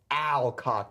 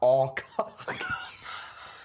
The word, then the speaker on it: Alcock: Dad, you're pronouncing her last name wrong. It's Alcock, not Alcock.